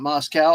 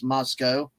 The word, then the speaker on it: Moscow: And it's Moscow, not Moscow. Our friend Anna has lectured me. They don't have cows. It's Moscow, but I say Moscow just for the fun of it anyway.